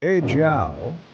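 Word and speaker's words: 阿胶: Yijiao, pronounced Yijiao, isn't some new trend.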